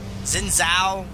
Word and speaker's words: Xin Zhao: Xin Zhao rhymes with win now.